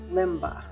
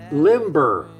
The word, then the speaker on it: Limber: what are we making Limba limber you said it was Limba is it Limba or limber I don't know somebody told us we were saying it wrong yeah it is it's